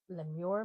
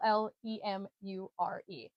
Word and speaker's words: lemure: Uh, it is spelled capital L E M U R E. Lemur. Lemure. Leure. I believe it's actually Leamur. I believe I looked it up and it's Lemur.